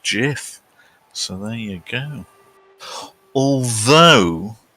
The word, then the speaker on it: GIF: Wilhite who invented the things he insists it's pronounced jiff so there you go although the Oxford English Dictionary has contradicted the creator and gone gif so you pays him and eaten takes you